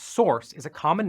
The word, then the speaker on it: src: src pronounced source is a common name for the folder that holds uncompiled code in a project.